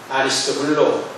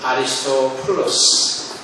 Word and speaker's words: 아리스토블로: 아리스토블로 또는 아리스토플로스, 이렇게도 발음할 수 있는 아리스토블로의 권속에게 문안하라, 이렇게 말씀합니다.